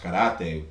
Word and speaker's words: karate: So like when the Koreans came to town, and karate was, or properly pronounced karate, was very popular, as you know, throughout the 60s, 70s, 80s.